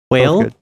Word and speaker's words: whale: Whale or kale? Quail or kale? Yeah, he likes to pronounce his H's before the W.